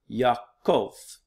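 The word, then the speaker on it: Ιακώβ: a biblical name as the name of Jacob Yaakov okay yeah cold and in Greek often times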